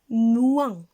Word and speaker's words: moins: La lettre S est muette, on ne la prononce pas.